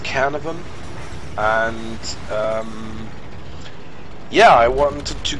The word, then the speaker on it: Caernarvon: I think it's pronounced Caernarvon, and yeah, I wanted to give you a